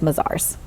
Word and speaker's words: Mazars: so much more at mizar's how they do pretty good right bazaars good job we were talking about the fact that different people pronounce it differently from around the world but it is mizar's okay so Tiffany tell